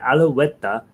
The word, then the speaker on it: Alouette: But Alouette, you want to give it a little w on there, give it a little bit of extra stuff. I often will put even a V sound in there. Alouette, you want to w.